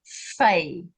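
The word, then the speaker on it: Fe: So instead of it being pay, it is now fay.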